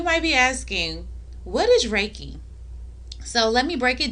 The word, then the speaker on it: Reiki: re EI Ki and some people call it Ricky Reiki what whatever suits your soul that's what you call it but if you want